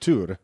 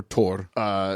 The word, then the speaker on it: Thor: I think it's pronounced Tur. It's pronounced a lot of things. Well, there's a lot of different, but yeah, you're absolutely right. Tur. And or Tor.